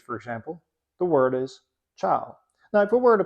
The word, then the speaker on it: ciao: then we should say ciao. But we don't say that. We say ciao. We go straight from the affricate sound ch to the vowel sound a. And that's because the I is silent.